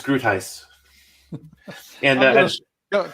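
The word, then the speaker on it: Groothuis: more information you know in my head i've always pronounced his name gruthius oh no it's it's groot heist and uh don't call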